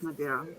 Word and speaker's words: Medeiros: It's No, Madero. The S it's is silent. It's Madero.